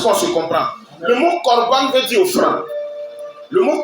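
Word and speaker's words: קרבן: Et quand on veut traduire littéralement, corban, ça ne s'écrit pas avec C comme tu as vu, mais ça s'écrit avec Q-O-B-A-N. Selon la transcription directe de l'hébreu. Et dans la transcription directe de l'hébreu, on dit corban.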